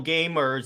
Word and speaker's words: GVMERS: It's like What's interesting is that if you go to the YouTube channel Gamers, it's spelled GVMERS.